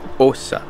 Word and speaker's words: Åsa: Parce que, en fait, il y a un petit point sur le A, ce qui fait que le A se prononce comme un O. Donc, je m'en vais à Assa.